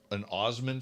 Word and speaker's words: Assman: I know an Osman family, which is spelled Assman.